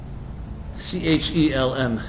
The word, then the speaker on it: Chelm: created this whole folklore about the people of Chelam. Chelm, if you want to do a little Googling, or some pronounce it differently.